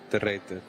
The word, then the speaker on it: Derer: Derer. the writer team the writer ish.